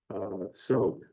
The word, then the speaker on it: TSOGH: So their first big project was named, it's TSOGH, which is pronounced SOG.